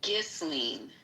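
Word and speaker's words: Ghislaine: It's Golene.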